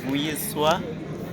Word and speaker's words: Vuyiswa: My name is Vuyiswa.